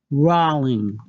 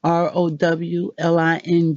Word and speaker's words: Rowling: a difference roll Ling rowl ing vs. ro h ln g JK rowling have come out and said the beginning of her name or her last name is pronounced like row in a boat and not like the